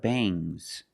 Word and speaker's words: bangs: When you have s after ng, it makes the nasal sound m, but it also makes a little g sound, but not a hard strong g. These are bangs. Bangs. There's a little g, but it's not bang gz. Softer bangs.